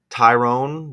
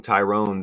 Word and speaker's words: Tyrone: you get Duality here Tyrone the name again usually I see it with an E I was saying Tyron they're saying Tyrone that is how they spell it here you get Duality 92